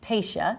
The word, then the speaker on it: Pasha: a little bit first of all the correct pronunciation is pacia correct p a s ha a pacia is a mutilated French name okay the origin